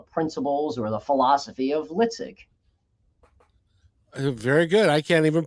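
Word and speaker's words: LITSG: on their own and it's litig I take l-i-t-s-g life is too short guy and created the the concept which I call the principles or the philosophy of litzig very good I can't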